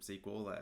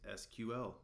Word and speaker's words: SQL: Now, some people pronounce it SQL, as I'm doing in this video, and others choose to say SQL as an acronym. Both are totally fine, and you're going to hear both throughout the industry.